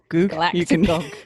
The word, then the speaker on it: galactogogue: Galactogogue. You can pronounce. Galactogogue. Actually, I always spell it galactologa. It is gog.